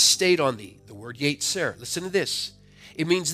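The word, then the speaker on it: יֵצֶר: It is pronounced yetzer in the Hebrew language.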